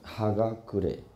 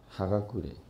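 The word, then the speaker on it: 葉隠: 我这边有注音，不太好读，念成哈嘎古雷，哈嘎古雷。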